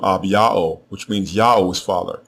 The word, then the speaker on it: Abijah: The way you pronounce his name is Ab-Ya'o. Ab-Ya'o.